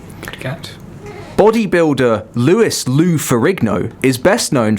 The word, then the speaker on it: Louis: people Nation of Islam another Louis that pronounced it Lewis was one of the